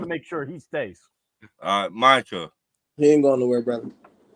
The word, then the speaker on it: Micah: Micah. We gotta say his name right because I want to make sure he stays. Micah.